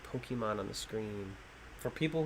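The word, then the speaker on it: Pokémon: pokeman is first off if you still call it a pokeman you might be too old for watching this show bro my parents always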